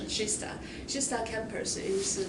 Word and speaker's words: Kista: campus called shista campus Kista in English you may pronounce as Kista but in Swedish that's chista shista campus is like